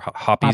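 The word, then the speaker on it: Hoppe's: Hops or hoppies?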